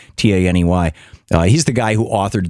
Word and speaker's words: Taney: Tawney, actually, is how he pronounced his name, Taney.